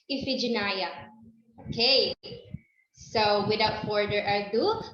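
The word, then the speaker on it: Iphigenia: spectacular mr bernie sanders it is um pronounced as ephigenia yes it is pronounced as ifyginaya okay so without further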